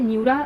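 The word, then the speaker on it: Anura: ए silent है, इसको न्यूरा पढ़ेंगे हम।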